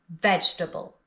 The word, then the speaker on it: vegetable: When you see it written down, it looks like it has 4 syllables, but we only pronounce 3. Vegetable.